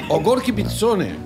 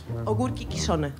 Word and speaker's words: ogórki kiszone: ¿Cómo sería Ogród? Ogórki Kiszone. Ah, Ogórki Kiszone. Ogórki Kiszone. Ogórki Kiszone. Sí. Es como italiano.